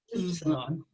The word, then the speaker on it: upsilon: Yeah, you got to stick your lips out. It's like a German umlauted U. So Upsilon.